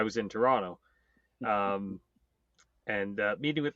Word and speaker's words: Toronto: But he did pronounce that second T in Toronto. So yes, it's a little suspicious there. Toronto.